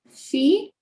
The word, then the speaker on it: fille: Et aussi, attention, esta de aquí es como esta de aquí. Se pronuncia igual. Y habíamos dicho que en esta no suena la doble L, que vamos a pronunciar famille. Entonces, ¿esta cómo pronunciaríamos, Regina? Fille. Fille, exactement.